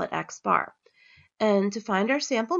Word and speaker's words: x-bar: So for a sample mean, we're going to use the symbol X bar, and that's just how it's pronounced. It's a lowercase x with a bar over it.